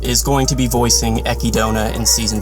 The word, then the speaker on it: Echidna: So once and for all, Echidna is the correct way to say it, but the Japanese pronounce it Echidna, so Echidna is what